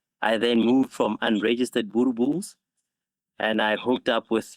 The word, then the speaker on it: Boerboel: It's pronounced Boerboel. Boerboel. Yeah. Okay. Yeah, over here in the USA, we say Boerboel.